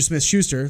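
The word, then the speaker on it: Smith-Schuster: subtraction right a lot better juju Smith juju Smith Schuster let me say it correctly James Connor those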